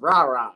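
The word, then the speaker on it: Rara: good ball he likes rah-rah Thomas and I love saying that name every time I see it Robert Thomas number one receiver Mississippi State come on now his name is r-a-r-a it's just rah-rah that's that's the best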